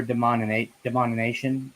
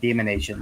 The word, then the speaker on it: denomination: Denomination. Thank you. That's what I was trying to say, not demonation.